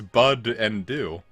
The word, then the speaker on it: Budew: light to pop up why do i say it but instead of you do because it's bud and do you seriously it's a bud and it's due uh using the masuda